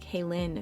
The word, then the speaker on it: Kalon: It says Kalon. It's pronounced Kalon Cosmetics. Kalon. My sincerest apologies. I've been saying it wrong this whole time.